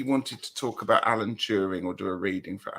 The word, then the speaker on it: Turing: That's how you say it, Turing? Alan Turing, yeah.